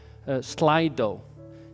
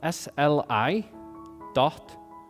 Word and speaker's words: Slido: I'll ask him the questions, and you will put them online on a site called Slido. So it's spelled SLI.do, Slido.